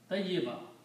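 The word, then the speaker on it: طيبة: Okay, and something which has become cleaned and pure is called tayyibatun. Or we call tayyiba. When we stop, we pronounce tayyiba.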